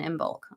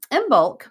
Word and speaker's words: Imbolc: kind of wanted to focus energetically speaking on imul um which is officially tomorrow so um and